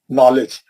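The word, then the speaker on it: knowledge: कैसे लिखते हो लोग नॉलेज ये के नहीं पढ़ते के साइलेंट है ये के जो है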